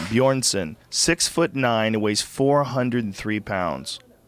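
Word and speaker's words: Björnsson: bson Bor BJ o r NSS o n bjornson 6'9 it weighs 43 lb Jesus Co Christ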